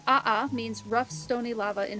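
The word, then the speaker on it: ʻaʻā: And then the other type of lava again giving a pronunciation. Love that. Aha lava.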